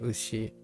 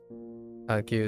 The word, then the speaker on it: 牛: Oh, right. Ushi. I said Gyu. Gyu is the other read.